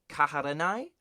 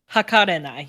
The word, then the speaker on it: Hakarenai: So the way I would pronounce this is Aharen-san wa Kaharenai? Close. Hakarenai. You've switched 2 syllables.